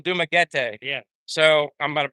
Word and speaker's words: Dumaguete: I'm starting to say I've been saying Dumaguete. Dumaguete. And it's actually Dumaguete.